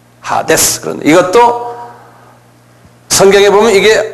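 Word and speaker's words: ᾅδης: 영어로는 헤이데스 그러는데, 그대로 발음대로 하면 하데스예요. 헬라말로는. 하데스.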